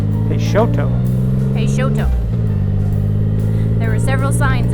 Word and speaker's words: Peixoto: So the name is pronounced Peixoto. Peixoto.